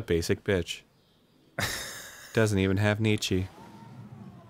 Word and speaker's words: Nietzsche: Doesn't even have Nietzsche. It's pronounced Nietzsche.